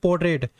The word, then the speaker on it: portrait: ये पोर्ट्रेट होता है, पोर्ट्रेट नहीं होता, पोर्ट्रेट नहीं होता है. इसको बोलते हैं पोर्ट्रेट. यहाँ पे जो आर है वो साइलेंट होता है, ये आर साइलेंट होता है.